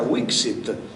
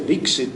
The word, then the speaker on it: vixit: Vixit, perché temono che si legga Wixit, che era giusto lo stesso, ma non gli suona, perché sanno che si dice Vixit anche, e quindi usano la B, che sicuramente in greco il beta si legge V, non so se mi spiego, è un po' un giro, però loro così hanno una certezza che si legge Vixit.